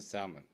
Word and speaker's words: salmon: That's a salmon. Salmon. It is pronounced salmon.